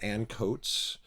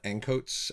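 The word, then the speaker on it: Ancoats: quote linear notes it's credited to someone named Ann coats which is actually there's a district inside of Manchester called encotes a-n-c-o-a-t-e-s so it's spelled the same way so um boy the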